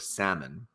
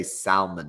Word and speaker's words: salmon: over funny pet peeves he hates people that mispronounce the word salmon so can't stand when people say Salman which I feel like